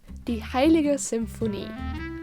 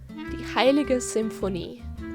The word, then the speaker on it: Die Heilige Symphonie: You pronounce it Mein Hausgarten. Die Heilige Symphonie. This one is easy. The Holy Symphony, Fischl's special dish. Die Heilige Symphonie.